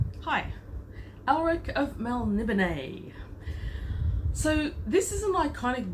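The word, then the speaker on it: Melniboné: I only found out, embarrassingly, last year that it's pronounced Melnibone, and despite the source being completely and utterly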